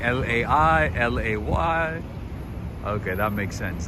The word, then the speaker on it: lei: It's pronounced Lai, okay. You guys wrote like L-A-I, L-A-Y, so L-E-I.